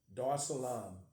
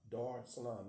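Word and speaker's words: Dar es Salaam: I studied the custom somewhat upon arriving in Dar Salam D Salam that's spelled D a r e s Salon s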